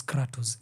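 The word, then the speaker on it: κράτος: Demo is a Greek word which basically means uh the people basically is pronounced as cratus in Greece which basically means uh power.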